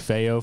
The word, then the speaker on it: feo: right now stressed like feyo from the matrix like me neo but spanish for ugly and it's spelled feo nice um that's it